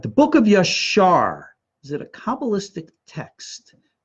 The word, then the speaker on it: Yashar: And we have a book of Yashar, spelled with a J, Jashar, that's available today.